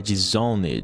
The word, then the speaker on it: disowned: A palavra não fica disowned, ela tem apenas um som de final. Então ficaria algo como disowned, tem um som de d no final e não ed.